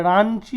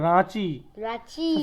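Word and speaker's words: Ranchi: ঝারড়খন্ড ঝারড়খন্ড এর রাজধানী হচ্ছে এটার উচ্চারণটা রাঞ্চি হবে না রাঞ্চি হলে ভুল উচ্চারণ রাচি এনটা কেন দিয়েছে চন্দ্রবিন্দু থাকলে বাংলায় টান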